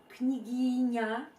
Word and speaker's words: княгиня: The syllable na at the end of Gremina and syllable ня in княгиня contains the same Italian vowel a and same English consonant n, but in one word we use hard n and in another we use soften n.